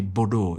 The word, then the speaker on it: Bordeaux: It is Bordeaux but they pronounce it as bawdaw.